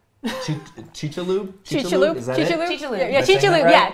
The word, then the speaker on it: Chicxulub: And they name the area and pronunciation. Chicxulub? Chicxulub? Is that Chicxulub? It? Chicxulub. Yeah, Chicxulub. Right? Yeah, Chicxulub. Yeah. So not my pronunciation. In Chicxulub.